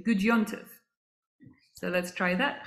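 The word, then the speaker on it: Gut Yontif: And in Yiddish, slightly easier to pronounce, we say Gud Yontif. So let's try that. Chag Sameach. Chag Sameach. Try it. And Gud Yontif.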